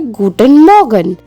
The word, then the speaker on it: Guten Morgen: the morning we say guten morgen gu ten mor gen guten morgan which means good morning